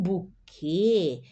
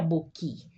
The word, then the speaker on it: buquê: O namorado deu um buquê de flores para sua namorada. Observa aqui, ó. Buquê. Eu pronuncie aqui a e porque tem um acento circunflexo, essa gorrita em cima, senão seria boqui.